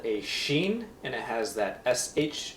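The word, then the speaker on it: שין: is on the top right is called a sheen and it has that SH sound Asha the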